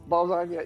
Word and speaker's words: Balzania: I don't know how to pronounce. Balzania, yeah, it's Balzania, yeah, It is Balzania.